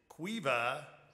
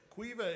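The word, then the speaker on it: Caoimhe: el paso county is cueva benrostin and just so you know cueva is spelled c-a-o-i-m-h-e that's pretty impressive fourth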